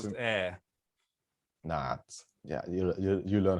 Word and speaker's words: Ayr: Gail, I believe Gail it's pronounced Davidson. air.